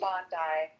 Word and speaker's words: Bondi: When they like book a place and they would say go to Bondi Beach or Bondi Beach, however you pronounce it, Bondi.